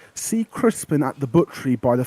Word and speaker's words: Crispin: spelled c-r-i-s-p-i-n Crispin or Crispian or something bacon well Crispin or crispy and some people pronounce it but there's no a so but it's Crispin kelnar looks at Kamali